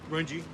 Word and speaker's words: Runge: Is that how you say it, Runge? Runge. Runge. Okay.